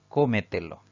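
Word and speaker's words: cómetelo: una sencilla razón porque la mayor fuerza de voz al pronunciar esta palabra recae en la sílaba denominada antes de la antepenúltima por lo tanto es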